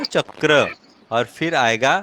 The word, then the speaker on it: चक्र: अब जब र जुड़ेगा तो उसका प्रोनाउंसिएशन कैसे होगा? चक्र, है ना, इस तरह से होगा ना, चक्र।